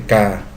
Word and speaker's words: K: Vengo desde mi lugar de origen, que lleva por nombre K, pronunciado como la letra K de su alfabeto.